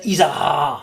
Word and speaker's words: Izarra: J'aurais roulé R final à votre place. Tu fais comment? Zacharie? Zacharie de Isara.